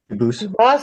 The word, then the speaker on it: Dubose: spelling in America, and they do pronounce it Dubose, but you said you pronounce it Dubose, as the original Dubose. As the original French French Dubose.